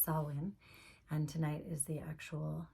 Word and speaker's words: Samhain: But today is actually Samhain, written Samhain, but it's pronounced Samhain.